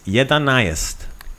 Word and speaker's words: jedanaest: Jedanaest. Jedanaest. Jedanaest. Right? So jedan is 1, jedanaest is 11. Jedanaest. So depending on how fast you say it or which, syllables you emphasize, jedanaest, 11. Jedanaest.